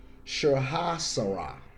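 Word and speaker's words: Sahasrara: seventh chakra and the highest chakra also call shaha sara that's spelled s-a-h-a-s-r-a-r-a okay it's located at the crown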